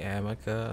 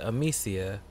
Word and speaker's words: Amicia: Yeah, I tell you this, the most annoying thing is when I see somebody say Amica, it's like... Yeah, I guess it's the whole potato-potato thing, but... It's like... The characters in the game pronounce it Amicia. And then everybody else goes out of their way to say Amica.